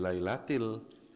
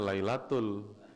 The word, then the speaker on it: lailatil: Lin yang kedua Lun ini jangan disamakan dengan inna anzalnahu fi lailatil orang bacanya Lailatul k diingatin Lailatul lailatil talul talul hati-hati pak